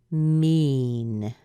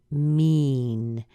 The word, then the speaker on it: mean: long e sound so it has an it this represents an e by the way and this represents another e it makes it a longer e there's almost a drop in there too so it's not really short it's rather long and it is called a long e e e so we have mean mean mean and if we were